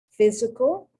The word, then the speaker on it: physical: don't want it complicated physical that that ph that ph is pronounced like an f always when you see a